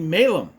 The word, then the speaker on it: Malum: So, that dictates it should be pronounced Malum, not Malum. So I'm going to call it Malum because that's how it should be pronounced.